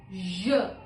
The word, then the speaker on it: je: Je.